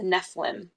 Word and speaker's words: Nephilim: Mortal Instruments series talks about the uh the Nephilim exactly that's how you say it um but